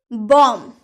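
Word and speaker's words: bomb: B silent letter. M के बाद या टी के पूर्व। क्या मैंने बोला? एम के बाद या फिर टी के पहले पूर्व यानी कि पहले बी आए तो बी प्राइस साइलेंट रहता है। जैसे कि बॉम्ब यहां पर एम के बाद बी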